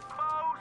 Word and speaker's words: faux: It's got an X in it, but you don't even pronounce the X.